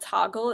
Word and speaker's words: Toggl: a week using an app called toggle it's spelled togl and it will send